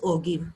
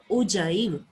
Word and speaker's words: ogive: Some students pronounce it as ogive. Ogive नहीं बोलते बेटे इसको. Ogive, J वाली sound.